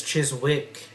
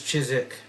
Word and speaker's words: Chiswick: like uh there a suburb of London called chisik cuz I pronounced it as Chiswick but people that lived there told me it was chisik so and then port mouth or Portsmouth instead